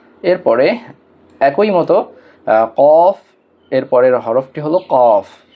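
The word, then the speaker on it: كاف: আমরা পড়ি কাফ, এটা স্বাভাবিকভাবে উচ্চারণ হবে, ধাক্কা দিয়ে না। কাফ, এরপর কাফ।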